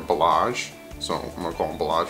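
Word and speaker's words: Ballage: you say his name you guys are telling me it's not Balaji it's more balázs so I'm from Oklahoma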